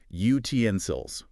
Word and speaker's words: utensils: Stress the middle bit. Utensils.